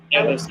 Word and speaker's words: Ehlers: Is it Ehlers? Ehlers Danlos Syndrome. Ehlers Danlos. So the H is silent.